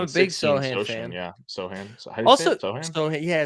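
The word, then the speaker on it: Sochan: big show fan yeah Sohan yeah so I say it wrong all the time but it's so Hand also Troy like listen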